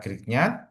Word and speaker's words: Grignard: Jadi ini bacanya adalah Grignard.